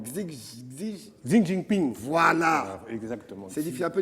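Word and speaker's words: 习近平: Xi Wan. Non, Xi Jinping.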